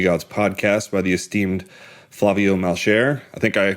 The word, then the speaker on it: Flavio Malcher: for the Hernier Gods podcast by the esteemed Flavio Malchair. I think I pronounced that correctly.